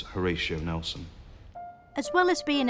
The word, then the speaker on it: Horatio: his parents call him Horror Show I think they probably intended to pronounce Horatio but it just got mishmashed up and became horisha no I think that most people still know him as Horatio Nelson as well as